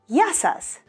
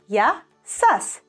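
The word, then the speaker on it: γεια σας: The third way, if you want to approach someone in a more professional manner and more formal, you will say yasas, yasas, yasas.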